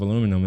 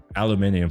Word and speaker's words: aluminium: That was this year, adjusting imports of aluminum into the United States. Aluminium for any of you who like that word. It's it's pronounced both ways by the way. There is no right way.